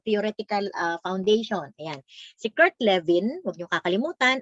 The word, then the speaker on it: Lewin: Si Kurt Lewin, huwag niyo kakalimutan, ang pronunciation niyan ay V because sa German ang W ay V.